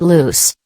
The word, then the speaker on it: loose: Loose, pronounced loose, is fast. Run free.